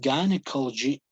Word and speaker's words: gynecology: specialist is a urologist okay next specialty is gynecology and obstetrics notice pronunciation here guys gynecology okay so the specialist